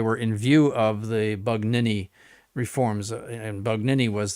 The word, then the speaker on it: Bugnini: who that is his excellency insists on the pronunciation of Bugnini as Banini.